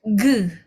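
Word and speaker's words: 그: Oke, ini bacanya ge ya. Eu bacanya e. Jadi seperti gambarnya kan garis horizontal. Jadi e mulutnya juga harus seperti garis horizontal. E jadi ge ya ge g.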